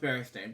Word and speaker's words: Berenstain: you go okay birthday next page anyway it's pronounced Berenstain Berry next page anyway um um Lou Jane